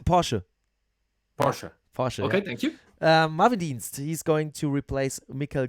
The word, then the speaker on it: Porsche: and sorry man and for porsche what i call porsche it's porsche correct pasha he's going to replace